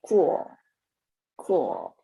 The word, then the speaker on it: cool: When I pronounce cool, my tongue is pull the back, like cool. Not the here. The L sound is always made in the front of your mouth.